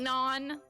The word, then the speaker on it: anon: it Anon? And I was like, no, it's Anon, like anonymous.